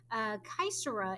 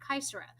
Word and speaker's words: caesura: Caesura is a fun term because it's Latin. So if you have any experience in Latin, you've heard of this word. And it's a hard C because it's Latin.